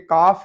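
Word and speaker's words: calf: और यहाँ पे ये काफ है, इसमें एल साइलेंट है।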